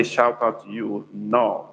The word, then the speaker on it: Nnoo: So Ndewo is spelled Ndewo, Ndewo, or no, which is spelled as Nnoo, or the O we have dot under. That is no. As I would say, welcome in Igbo language.